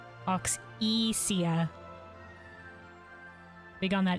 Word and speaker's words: Auxesia: Oxia. Do we oxia? All right. All right. All right. All right. All right. All right. Oxia.